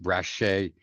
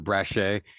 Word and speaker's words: Braché: There is an accent over the E. If you couldn't figure that out, it's pronounced Braché. It's butchered all the time, Braché, but Braché.